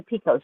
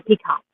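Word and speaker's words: picot: It says Pico. And she's Pebble's Pico. Mhm. Now, is that how you say that? It's a pico stitch, right? Not a peacock. Pico. It's not pie. Pico.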